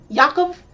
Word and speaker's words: Yakov: after he lost and to go train with Yakov, that's how you pronounce his name, while Yuri has won and he has Victor to stay with him in Japan.